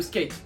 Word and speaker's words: SK8: avion des fois le skate alors vous voyez marqué sk8 mais ça se prononce bien skate le skate c'est le